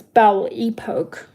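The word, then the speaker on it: Belle Époque: of the era of rock crystal this is Belle epoke you know how to spell it b e l l e e p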